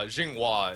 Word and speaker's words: Zhenghua: that yeah that was actually really close uh Jinga is how normally people pronounce it I mean it's it's really long